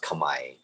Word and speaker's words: Kamae: you know his last name is actually it's pronounced kamai but eddie kamae was um he was the first ukulele virtuoso